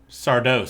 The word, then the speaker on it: Sardos: Mia is educated enough to know that the S is silent. Bryn was not.